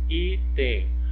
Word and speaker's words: item: Qual que é a sílaba mais forte? É o I. É o I. Então, essa palavrinha ela não é uma oxítona, ela é uma paroxítona.